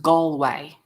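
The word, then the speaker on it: Galway: that girl okay so Galloway crystal is from Ireland pronounced gway gway well that's a fun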